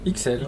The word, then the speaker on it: Ixelles: Je ne sais pas si on prononce Ixelles. Ixelles, oui, comme Bruxelles, mais voilà. Là le X se prononce vraiment qu'on soit en Belgique ou en France.